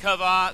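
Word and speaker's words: Chava: in Genesis chapter 3 we see the story of Adam and kava that's the Hebrew pronunciation for Adam and Eve they sin against God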